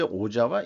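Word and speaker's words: 小沢一郎: 소택 일랑에 대해서 찾아봤는데 일본 말로는 이제 오자와 이치로라고 발음하네요.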